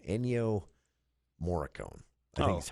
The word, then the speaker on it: Ennio Morricone: But there's a single track on I don't even remember how to pronounce the composer's name. Ennio Morricone. I think is how you say it. Ennio Morricone. Ennio Morricone.